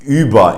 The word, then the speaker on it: über: have in words like über, which basically means above. If you know the app Uber, it's actually pronounced Über in German. You gotta get that one right too. So it's Ü as in über.